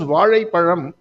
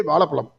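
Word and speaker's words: வாழைப்பழம்: But in Tamil, more people cannot pronounce Ja. If you ask them to pronounce Vazhai Palam, they will say Valapalam.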